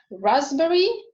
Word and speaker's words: raspberry: It is also not pronounced in other clusters, occurring in raspberry, cupboard.